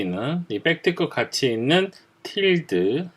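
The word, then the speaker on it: tilde: 200 특급 가치 있는 틸드 이거는 틸드 라고 발음을 해 주셔야 되요 그가 보통 이걸 우리가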